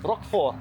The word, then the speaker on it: Roquefort: Yes, we practiced a bit, because people tell me how to pronounce it: Rock for Roquefort. That R has to sound soft.